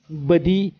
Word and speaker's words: بدیع: انوکھا، بے مثل وغیرہ۔ علمی لغت کے مطابق بدیع بفتح اول عربی زبان کا لفظ